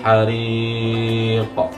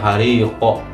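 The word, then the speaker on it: al-ḥarīq: Adzabul hariq. Ujungnya ada huruf qaf, tetapi tidak hariqo atau hariqi.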